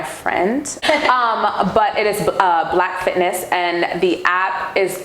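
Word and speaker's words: Blaque: the name of well it's called black um and it's spelt b-l-a-q-u-e no um and it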